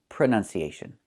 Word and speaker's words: pronunciation: The word is pronounced pronunciation. We see the letter U there between the N's, right? That's a short sound like cup and up. Pronun, pronun. So the two first vowels are the same sound.